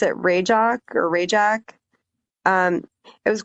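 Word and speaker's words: Rajcok: It's kind of Ratchcock, but they pronounce it Yeah, they pronounce it rajock or RJ.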